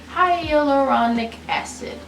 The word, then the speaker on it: hyaluronic acid: with high highly high hyaluronic acid you're probably saying that wrong google helped me out here hyaluronic acid that's how you say it so uh yeah